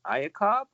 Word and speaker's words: Iacob: I'm going to say Iacob. Is that how you say it? Yeah, that's right. Hi, that's the actual Romanian version. The English version would be Jacob.